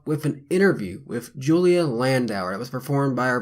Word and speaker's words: Landauer: This time, and only Julia Landauer.